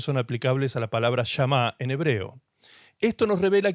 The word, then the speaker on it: shamá: la palabra oír, que en hebreo se dice llamá. Yamá se escribe s h a m a.